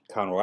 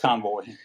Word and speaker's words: Conroy: Is that how you say his name? Conroy. I thought so. I wrote Convoy. It's not like Convoy.